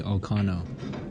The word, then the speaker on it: Alcano: Ronnie Alo or Kano excuse me it's probably alcano in in maybe I'm sure if you're going to pronounce with the uh Spanish flavor yes has Santos